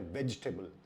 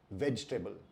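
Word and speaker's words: vegetable: अगर आपने इसको वेजिटेबल बोला तो वो सही उच्चारण नहीं है, क्योंकि इसका सही उच्चारण है वेजिटेबल। वेजिटेबल।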